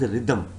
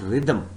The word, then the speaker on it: rhythm: Please do not call this word as rhythm. It is not rhythm. You have to pronounce this word as rhythm. What is it? Rhythm.